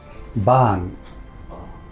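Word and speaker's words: บ้าน: How would you pronounce the house in Thai? Ban.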